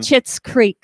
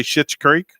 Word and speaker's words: Schitt's Creek: Chits Creek. See, you can't do it. I can't. It's like I gotta say it like a chiclet.